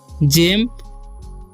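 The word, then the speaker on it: gem: ठीक है, उसी तरीके से जी से हो जाएगा ज, क्योंकि जीई है। ठीक है, तो इसका उच्चारण जे, एम से म, तो पढ़ेंगे हम जेम।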